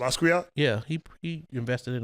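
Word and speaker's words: Basquiat: Um, Boscar, that's how you pronounce it. Bosat.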